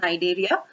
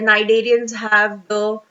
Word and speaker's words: Cnidaria: So the C remains silent, like in case of the Cnidaria.